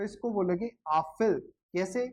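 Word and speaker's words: Apfel: लेकिन इसको जब कलेक्टिवली बोलोगे तो इसको बोलोगे आफिल। कैसे, वो अपन ने अभी सीखा है कि इसको आ पढ़ते हैं, पीएफ को फे पढ़ते हैं और ईएल को अल पढ़ते हैं, आफिल।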